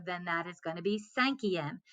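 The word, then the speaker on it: cinquième: okay so once again if it ends in a q you're gonna add that u before you add on that em so then that is gonna be sanki m senki m is like i said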